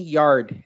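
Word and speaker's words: Yarde: And it's pronounced Anthony Yard, everyone.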